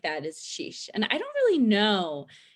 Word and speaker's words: xis: Okay, so the first one, all right, we have sheesh. All right, it's XIS, but it's pronounced sheesh, something more or less.